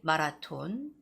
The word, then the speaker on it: marathon: So Korean people, Korean students out there, my students, don't say marathon, it's marathon. Marathon. So the stress goes on the first syllable, and it's very important to say the TH sound, which is th, marathon, marathon.